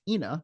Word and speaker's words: Ina: duplex when my cat Ina, pronounced Ina because she looked like a hyena, got run over in front of my house.